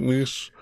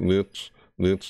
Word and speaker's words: Nice: saying these is it nice it is nice right not knits nice piece it looks like it's spelled it's felt knits but it's pronounced and used for i don't